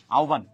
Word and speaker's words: আহ্বান: হ যোগ ব থাকে, তাহলে সেক্ষেত্রে উব হয়ে যাবে।